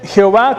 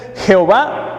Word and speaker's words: Jehová: El texto dice Jehová con acento en la A.